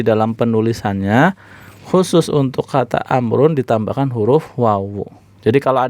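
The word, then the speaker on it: عمرو: Tapi kalau ada nama ditulisnya ain, mim, ro, wawu bacanya Amrun. Iya. Jadi wawu di situ fungsinya untuk membedakan kapan kita baca Umar, kapan baca Amr.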